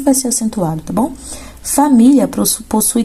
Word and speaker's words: família: Aqui, família é paroxítona, terminada em ditongo, porque termina em IA, tá vendo? E é uma paroxítona porque a penúltima sílaba, mi, é tônica, tá bom?